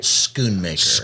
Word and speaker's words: Schoonmaker: Schoonmaker. Schoon. Yes, Okay, sir. Schoonmaker. It's not So the answer is no.